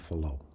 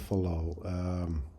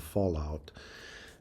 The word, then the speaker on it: Fallot: Actually, first time I heard that term, I called it Tetralogy of Fallout, and close in pronunciation, but in my mind it was Tetralogy of Fallout, and it stuck with me almost until this very lesson.